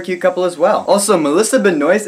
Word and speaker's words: Melissa Benoist: Also, Melissa Benoist is in this movie. Yes, that is how you pronounce her name.